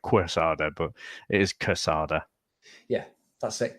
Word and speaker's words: Quesada: air so it's pronounced casada so it's like as if it's spelled with the K but it is spelled with the Q isn't it so it looks like Quesada book is casada yeah that's it casada